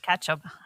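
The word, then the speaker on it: Ketcham: welcome so K Ketchum Ketchum I almost it's spelled so different it is it is it's k t c h a m yeah um dying to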